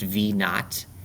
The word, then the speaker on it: v naught: This is pronounced v naught, and that just tells me initial launch speed.